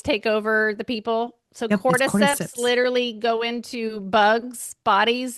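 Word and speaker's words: cordyceps: Cortiseps. Cortiseps.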